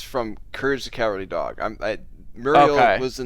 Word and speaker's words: Muriel: that muriel is from courage the cowardly dog muriel was the name of the the grandmother and they pronounced it muriel okay how i like i